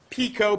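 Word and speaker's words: Picot: was a British guy Pico pic T you have that t that we don't pronounce so he's French the Sykes Pico agreement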